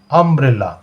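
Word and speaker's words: umbrella: দেখো আমব্রেলার উচ্চারণটা আব্রেলা।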